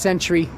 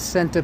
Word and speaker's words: Senta: I think we all thought that it was pronounced Century. We all used to call it Century Pizza, not Senta, but I believe the correct pronunciation is Senta Pizza. At least that's what they used to say when they answered the phone.